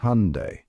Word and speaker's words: Hyundai: The correct way to pronounce it is Hyundai. Yep, just like the day of the week.